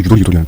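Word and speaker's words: ゆとり: 이 여유를 일본 발음으로 유토리라고 하는데 여유가 있는 교육으로 교육의 방향을 크게 전환할 필요가 있다. 한국 어른들이 자꾸 유도리하는 그 단어가. 그 단어입니다.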